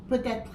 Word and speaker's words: peut-être: How do you pronounce it again? Peut-être.